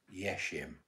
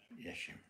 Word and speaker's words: Yesim: How do you spell it? Y-E-S-I-M. Yeshim. Just say yes or no. Yeshim. Yeshim or yesim? Yeshim.